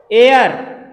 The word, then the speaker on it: heir: या जैसे एक वर्ड आपने और सुना होगा, एयर, क्या पढ़ते हैं इसको, HEIR, एयर।